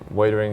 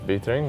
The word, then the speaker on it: Wiedering: It's actually pronounced Vietering with a V. Sorry, what was that? It's pronounced Vietering, so it's with a V, it's Dutch Wiedering, so that's where it comes from, and the boys have